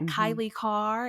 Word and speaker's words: Kailei Carr: find me on on all the socials at Kylie car and I have a lot of vowels in